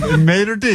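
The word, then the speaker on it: maître d': Maitre d'.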